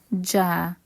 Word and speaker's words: ج: is Jim the J sound comes from the middle of the tongue and the upper pellet J J it's basically the same sound of J in majer in majer J J now let's